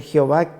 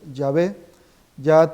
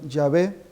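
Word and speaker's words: Yahvé: eso los diccionarios enciclopedias hablan de pronunciación errónea pronunciación incorrecta del nombre de Dios la pronunciación más precisa es yé ya teodoreto de Ciro por ejemplo conserva la expresión yavé San Jerónimo también que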